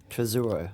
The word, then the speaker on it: Tesouro: Tesouro is Portuguese for treasure. Okay. Right? That's how the name. Tesouro. Tesouro. Okay. Yeah. It's really Tesouro.